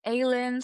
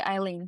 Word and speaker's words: Aylin: You can pronounce it like you want. Like some people say Aylin, some say Eileen. It's actually Eileen, to be honest with you.